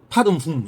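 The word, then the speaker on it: पद्मे हूँ: 반매홈이 아니고 판매홈입니다. 판매홈. 원 발음은 판매홈. 판매홈이 아니고 정확하게 하면 파듬훔. 이게 맞습니다. 파듬. 지금 우리는 옴마니 파듬훔. 이게 원래 발음입니다.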